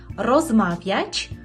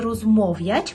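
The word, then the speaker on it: rozmawiać: ми перекладемо це польською розмавяч пшез телефон дуже часто чую помилку що кажуть студенти розмов'яч повинно бути розмав'яч пшез через телефон і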